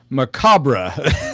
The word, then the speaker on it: macabre: Apple says I always mispronounced macabre as macabre.